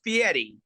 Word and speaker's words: Fieri: 2006, Chef Guy Fieri won Food Network's Next Food Network Star and was awarded his own series, Guy's Big Bite.